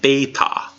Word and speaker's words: beta: the next letter is BAE with long a sound Beta Beta Beta like the B in the Bible and the lowercase B